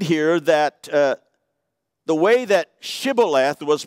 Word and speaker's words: Shibboleth: Then they would say to him, "Then say Shibboleth." And he would say Sibboleth, for he could not pronounce it right.